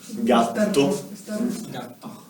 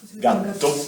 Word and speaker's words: gatto: So, for example, the word gatto. This is 2T. Gatto, which means cat. Cat.